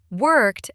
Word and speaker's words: worked: Worked ends with a t- sound.